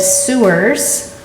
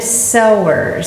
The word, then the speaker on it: Sowers: You might read it as the Splendid Sewers, but really it's the Splendid Sowers, spelled the same exact way.